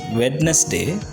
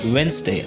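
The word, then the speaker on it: Wednesday: இட்ஸ் not pronounced as வெட்னஸ்டே, இட் இஸ் வென்ஸ்டே.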